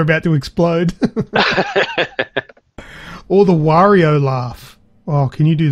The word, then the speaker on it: Wario: Wario laughing. Mario Kart. Oh, there you go. I always thought it was Wario, not Wario. Oh, well, I say it like Mario.